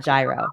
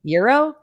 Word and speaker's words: gyro: It's not gyro. Euro? Is that how you say it? Euro? Yeah.